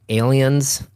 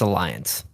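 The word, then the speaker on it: Allianz: said it was the Aliens. It's the Alliance Arena. They're playing at Bayern Munich. Okay? Is that how you pronounce that? I'm pretty sure it's Alliance.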